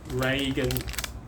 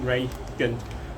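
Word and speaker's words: reagent: and the um test tube and also the reagan card not sure i spelled correctly i mean pronounced correctly r e a g e n t ray good card so i will um do um yeah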